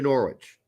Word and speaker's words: Norwich: get-go yeah since leaving Hanover and going to Norwich Norwich Norwich there you go say right yeah